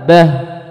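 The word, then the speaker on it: دابة: Maka cara bacanya dihentak. Jadi bacanya dabbah, sokhoh, adanya hentakan. Sama dengan dhalin juga sama.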